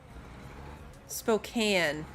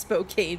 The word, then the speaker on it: Spokane: right back onto the highway Spokane got it why is it doing okay yeah